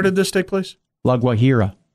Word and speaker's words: Guajira: to talk, of the Colombian Department of La Guajira. Reports suggest that the six students fainted without warning and the parents of the children did not know the cause. Local media... Where did this take place? La Guajira.